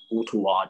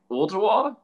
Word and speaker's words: Ooltewah: It's Ooltewah to, if you're just saying it real fast in a southern accent, it's Ooltewah. But it's Ooltewah.